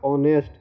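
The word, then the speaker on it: honest: जैसे कि लिखा हुआ है ऑनेस्ट, एच साइलेंट है, एच से शुरू है लेकिन एच साइलेंट है, और एच के बाद वॉवेल है ओ, तो इसका उच्चारण क्या हो गया? ऑनेस्ट, क्योंकि एच साइलेंट है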